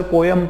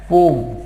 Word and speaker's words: poem: आप बोलोगे सर पोयम पोयम पोयम, तो दोस्तों इसको पोयम, इसका प्रोनाउंसिएशन सही नहीं है। ठीक है, इसका जो सही प्रोनाउंसिएशन है वो है पोम। क्या है? पोम। अजीब लगेगा आपको, लेकिन यही सच्चाई है, यही तरीके से प्रोनाउंसिएशन होता है।